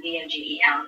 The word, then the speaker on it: Vogel: Although I did bring up my last name meaning bird, and someone mentioned the German spelling of Vogel being V-O-G-E-L, but you pronounce it Vogel.